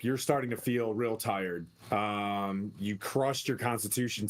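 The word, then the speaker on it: Tyr: to tears Smite to tear Smite you but ipronounce tear I say tire tire to Tire uh for all intents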